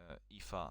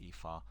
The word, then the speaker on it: Aoife: So today at 3:30 we have Aoife Lockhart taking a moment to decompress and hang on a minute, I pronounced that incorrectly. Aoife, no, that's true. It's Aoife, yeah.